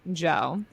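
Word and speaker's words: Djo: No, I almost went for a day pass because I've been wanting to see Joe, which I just learned that's how you pronounce it.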